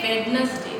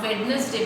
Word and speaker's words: Wednesday: Still I can see when you are sharing your small video clips or something, you always say Wednesday. It's not Wednesday beta, it's Wednesday.